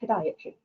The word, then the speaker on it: podiatry: And she said, well, number one, you pronounce it podiatry.